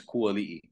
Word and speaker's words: Kuali'i: like telemarketer, they're like, is this Kuali? I'm like, yo, I hang up real quick because I hate that they pronounce it wrong. Like, so that's why I chose Ku, because Ku Ali'i.